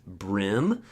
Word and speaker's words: bream: In the US, the name bream, often pronounced brim, most commonly refers to sunfish, bluegill, reed deer, and pumpkin seed.